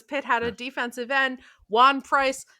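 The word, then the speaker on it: Ejuan Price: had a defensive end Juan Price the E at the beginning is silent who wore his shorts rolled up over his knees.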